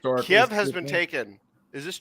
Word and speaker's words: Kiev: We know that, and it's pronounced Kiev, not Kiev, like that retarded Ukrainian languages, because it's always been called Kiev for forever.